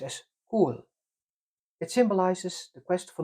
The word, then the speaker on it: Coll: The name is pronounced as cool.